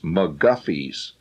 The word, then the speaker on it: McGuffey's: a great uh and it even tells on the front how to pronounce it it says mcguffies and it says proper